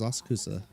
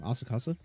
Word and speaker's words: Asakusa: The location is Asakusa. Head over. Asakusa? Oh, I've been saying it wrong. Asakasa?